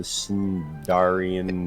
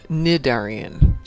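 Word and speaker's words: Cnidarian: It's called the Sindarian It's pronounced Defender. Nidarian. Just ignore the C. Ignore the C.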